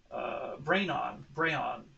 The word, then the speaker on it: Braon: They recently teamed up with a company called Kanro to make this Braon, Braon, I think Braon is how you pronounce it, eSports candy.